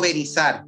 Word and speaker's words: Benízar: ¿Es Benízar o Benízar? ¿Cómo es? El segundo que has pronunciado, Benízar. Benízar, claro, Benízar.